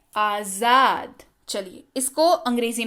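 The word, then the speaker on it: आज़ाद: सबसे पहली चीज इसको पढ़ते हैं आजाद। क्या पढ़ते हैं, ध्यान दीजिएगा, ज के नीचे नुक्ता लगा हुआ है तो ये ज हो गया। क्या पढ़ते हैं, आजाद।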